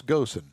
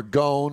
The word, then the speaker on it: Ghosn: Carlos Ghosn, or Gone, or whatever you, however you want to pronounce his last name. He's still in his hidey hole. He's in his hidey hole, and his last name is spelled G-H-O-S-N. I call it Ghosn. If I'm wrong, I don't care.